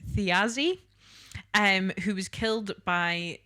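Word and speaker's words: Thiazi: So, she was the daughter of the giant, I think this is how you pronounce it, Theazi um who was killed by like the Asgardian gods after an incident.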